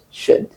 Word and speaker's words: should: pronunciation of those words there is no L sound. You don't add the L sound. So you say could, would, should.